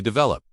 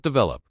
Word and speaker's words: develop: For example, we say develop with the stress on the second syllable, not develop.